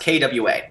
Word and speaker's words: Qua: this tribe called the qua and it's that's literally how it's pronounced Kwa qu and what the